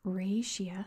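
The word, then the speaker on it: Raetia: a region known as raia at least that's how you say it in English I've heard a bunch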